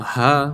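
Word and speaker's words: ح: Now Ha, when you pronounce it, is just a breath. There's absolutely no obstacle. It's a breath that just comes out. You don't flex your muscles anywhere. It's probably one of the easiest letters to pronounce. It's just a breath. Ha, ha.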